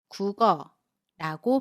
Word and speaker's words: 국어: 여기에서 받침 기억이 모음 어와 만났을 때 기억이 이응 자리로 가서 발음됩니다. 그래서 국어라고 발음해요.